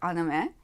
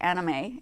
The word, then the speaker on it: anime: So we have a lot of anime. Drives me crazy when people say anime. It's anime. If you're going to pronounce it correctly.